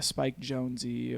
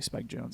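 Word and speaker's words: Spike Jonze: like a like a spike jonesy or um i probably said his name or i actually spiked jones i think is how you pronounce it um i would also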